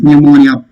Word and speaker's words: pneumonia: Pneumonia. P is silent.